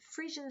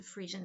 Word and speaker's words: Phrygian: It is a Frisian hat. Frisian here is spelled Phrygian, in case anyone wants to look it up. It's not a very easy spelling.